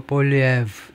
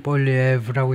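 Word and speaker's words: Poilievre: Mr. Polyev 여기다 액센트를 두고 Polyev 주로 영어권 사람들은 Polyev라고 읽는다 이거죠. Mr.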